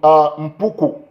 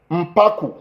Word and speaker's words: Mpaku: Of course, you know, we have Kang Johnny Mbwange from Mpuku. No, that's Mpaku, not Mpuku, Mpaku.